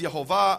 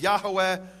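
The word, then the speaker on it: יהוה: In fact, it says there in the Hebrew Yu vave, which I pronounce as Yhovah, others pronounce as Yahweh or Yahave.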